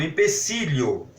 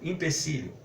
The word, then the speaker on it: empecilho: um empecilho tudo bem é escrito com a letra e início tanto empecilho Quanto empeço pode ser até que pela pronúncia nós acabamos fazendo essa confusão que na pronúncia nós vamos anunciar como empecilho impecilho não como um impecilho tudo bem mas é